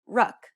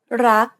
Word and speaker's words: รัก: to say this, however, they would tend to say something like ruck. It's a natural habit to release the final consonant sound. In order to pronounce this word properly, however, you want to stop just as the back of the tongue contacts the roof of the mouth. Never release the air of final consonants in Thai words.